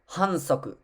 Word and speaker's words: hansoku: The next one is a foul, pronounced, which is pronounced hansoku.